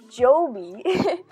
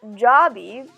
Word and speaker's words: Joby: Anyways, so I was just like, "Yeah, they pronounce the name Joby, not Jobby."